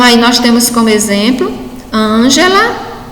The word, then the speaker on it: Ângela: Então, aí nós temos como exemplo Ângela, lâmpada e metafísica.